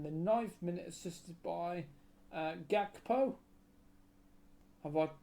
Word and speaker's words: Gakpo: next J in the ninth minute assisted by gakpo have I pronounced that name right G yes yeah okay